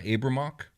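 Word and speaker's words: Abriymoch: named i want abramoc would you pronounce the abramock yeah kind of keep that y mostly silent there yeah okay abram so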